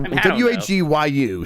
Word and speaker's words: wagyu: you say that wagyu beef wagyu it's a w-a-g-y-u so it's wagyu wagyu yeah we're supposed to